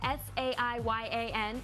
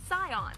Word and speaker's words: Saiyan: When you Romanize Japanese, something spelled S-A-I-Y-A-N is pronounced Scion.